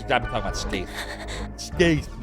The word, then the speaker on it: Skeith: But no, it's neither. It's Skaith, because E before I is clearly pronounced A, like Canada. A. Skaith.